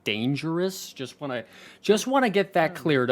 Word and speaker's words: Danejerus: A lot of you kept saying. It's actually Danejerus.